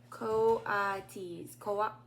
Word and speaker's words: coatis: Pronounced Coatis.